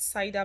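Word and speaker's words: CIDR: Now there's something called cider block. Cider is spelled C I D R.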